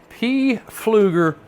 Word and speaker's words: Pflueger: My next one I have 4-lb test on and it is a Pflueger That's how you say it.